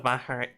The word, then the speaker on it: Bahrain: Officially, the Kingdom of Bahrain. That is a tough syllable, huh? Or sound. It's not a it's like H, but like voiced.